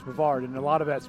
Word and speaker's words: Brevard: go anywhere I go they know how to pronounce the word Brevard not Brevard or any that they know it's Brevard and a lot of